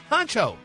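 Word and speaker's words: Hunxho: excited honey kha is back with her man honcho that's how you say his name baby they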